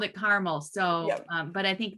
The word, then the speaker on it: Carmel: for the international making cities livable conference in carmel and i was told that it is not pronounced carmel i was inclined to call it carmel but but the mayor himself called it caramel so um but i think that also you